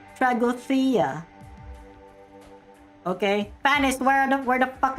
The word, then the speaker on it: Tragodia: Yeah, the actual Greek person corrected me, and he said that it's pronounced as Tragodia.